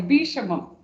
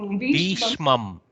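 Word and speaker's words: भीष्मम्: Sorry, Bhishmam. Bhishmam. Oh, Bhishmam. See, Shakara is a half letter attached with the Makara. So it doesn't have, it's no Bhisha.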